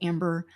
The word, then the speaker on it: Ambar: It's spelled Amber, like Ambar, but it's like Amber.